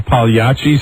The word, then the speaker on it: Pagliacci: he's like, And isn't he wearing like a Pagliacci suit? Yeah, no, you said it right, a clown suit. Yeah, like Pagliacci.